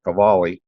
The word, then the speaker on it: Qvale: I say Kjell Qvale, the name that my phone spells is Cavali, which is like an Italian name, but that's actually the way you say it, Qvale.